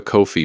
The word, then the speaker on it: Ko-fi: We've set up a Ko-fi page, that's K-O-F-I, pronounced just like coffee, and the link is in the description and on our bio.